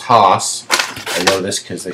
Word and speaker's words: Haus: stuff about it um instead of you know it looks like house like I guess the German I don't speak German